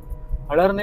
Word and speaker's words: Halarne: हळरणे व्हिलेजमध्ये enter करतोय हळहरणे ना तुम्हाला तुम्ही गुगल वर सर्च करायचं तर तुम्हाला अलोरना म्हणून सर्च करावं लागेल त्याचं ओरिजिनल नाव आहे हळहरणे म्हणजे त्याचा स्पेलिंग असं होतं एच एल ए आर एन इ आणि जर तुम्हाला गुगल मॅप ला सर्च करायचं असेल तर तिथे तुम्हाला अलोरना टाकावं लागेल म्हणजे एल ओ आर ए एन ए गोव्यातल्या बऱ्याच गावांमध्ये